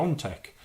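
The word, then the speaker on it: Piątek: the Polish striker Christoph peon tech I don't know really all pundits that specialize in it they all say they open a CP on tech but it's spelled peer tech so I don't know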